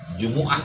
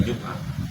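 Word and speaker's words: جمعة: Jumuah bacanya jangan jumah ya.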